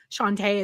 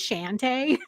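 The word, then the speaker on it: Shantay: And even when he was doing like a Drag Race reference of Santos being Shantae, but he mispronounced Shantae as Shante.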